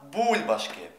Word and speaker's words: бульбашки: з бубликами на баобабі звертаю вашу увагу що в слові бульбашки наголосна у не бульбашки не бульбашки а бульбашки вивчаємо бульбашки кублились на